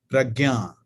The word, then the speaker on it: prajna: it p a jna prajna in Sanskrit it is pronounced as pragna which means wisdom in